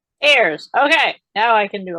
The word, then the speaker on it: Ayers: I should have asked if you pronounce it Ayers or so say hello so I know how to pronounce your name thank you so much for having me Peggy it's Ayers Ayers okay now I can